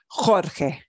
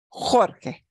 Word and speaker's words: Jorge: j and a g e the name George Jorge Jorge Jorge okay here's a word that means what